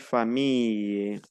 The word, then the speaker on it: famille: La doble L se pronuncia como una I o una I y una E. Tenemos entonces famille, fille, y es un poco más alargada.